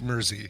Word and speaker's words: Mersey: I've lived in Essex, and it is Mersey. He's confirming that it is pronounced Mersey.